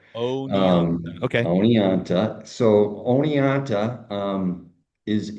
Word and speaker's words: Oneonta: I don't really know how to say it. Juanita, oh, very one. that's a good first attempt. I like that. I've seen that name butchered worse, to be honest with you. That's my So goal. That's my goal is to butcher things. yeah, I grew up in upstate New York, right? Oneonta, New York.